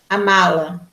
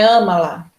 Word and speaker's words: amá-la: aí você vai dizer amá-la, né? Amá-la me faz bem. E esse má, você percebe que ele é forte, ele é pronunciado, não é ama-la, né? Não é ama-la, é amá-la.